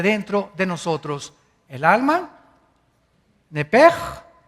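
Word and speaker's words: נפש: Esa palabra alma es la palabra hebrea nepesh, así como suena. N p E s h. Nep. La palabra, la letra o las letras sh en del hebreo se pronuncian en hebreo como J.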